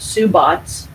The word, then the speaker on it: Sabbats: to enhance your experience the Sabbats traditionally pronounced su BOTS are eight seasonal markers